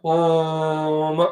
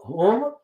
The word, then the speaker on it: Om: It has got 3 syllables, A and U and Ma.